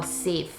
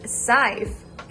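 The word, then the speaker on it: Syfe: better stash away or save it's pronounced as scythe i have never used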